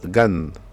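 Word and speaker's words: גן: Ensuite nous avons le mot gan, donc là vous voyez la lettre guimel, le son A et la lettre Nun. Donc la lettre Nun c'est le son N, et comme nous avons déjà vu, là il est en fin de mot, donc c'est pourquoi il a pris cette forme là, d'accord. Donc ça se dit Gan.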